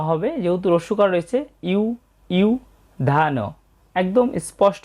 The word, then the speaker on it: যুধি: এবং এরপর আছে ইউধি, এখানে অন্তস্থ জয়ের উচ্চারণটা হচ্ছে ই অ, তবে কার চিহ্ন হওয়ার কারণে ই উ হয়েছে, ইউধি।